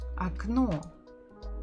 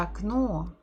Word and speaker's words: окно: If it is stressed, we pronounce it as it is, O. But if it's not stressed, we say it as A.